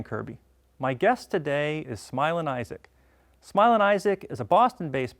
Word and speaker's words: Smilin' Isaac: It's not Smiling Isaac, right? It's Smilin. Smilin Isaac.